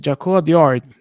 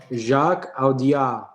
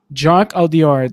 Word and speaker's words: Jacques Audiard: Jaco Diard for Emilia Paris. I actually seen this movie. Have you? Jacques Audiard. Jacques Audiard.